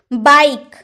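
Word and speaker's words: bike: ई लगाया, क्योंकि अगर लास्ट में ई रहे ना तो उसका उच्चारण होता ही नहीं है, आप फिर भी इसे बाइक ही पढ़ोगे, यानी कि मोटरसाइकिल।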